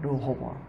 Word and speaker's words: 르호보암: 르호보암. 그래, 보암은 똑같고 앞이가 좀 다릅니다.